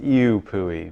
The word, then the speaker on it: IUPUI: spaces of black connections it really should be pronounced you pooey but that sounds even worse okay so yeah